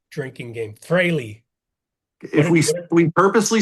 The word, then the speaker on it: Frehley: Oh, every time somebody pronounces Ace's last name wrong, Freely. drinking game. Frehley.